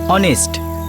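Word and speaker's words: honest: ইউ R right, অনেস্ট এইচ দিয়ে শুরু হয়, কিন্তু ফোনেটিক্সের উচ্চারণ মানে প্রনাউন্সিয়েশন ও দিয়ে হয়, অনেস্ট।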